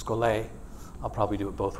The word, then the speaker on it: schole: scol scol is a Greek word if you pronounce it scol instead of scol it doesn't matter but it's scol I'll probably do it both ways and it